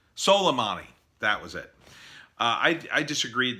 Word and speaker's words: Soleimani: I didn't agree with his assassination of Somali. How do you say his name? The Iranian general, Somali. I forget how to say his name. Soleimani.